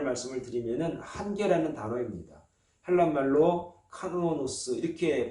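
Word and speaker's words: κανόνος: 헬란말로 카노노스 이렇게 발음을 합니다.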